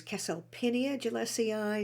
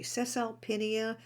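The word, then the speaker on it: Caesalpinia gilliesii: many pronunciations but uh i always learned it was keselpinia gillessie eye some say cecil pena and it is such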